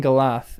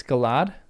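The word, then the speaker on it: galadh: So just all duh. Softer th sound. There is no h. So, Galath.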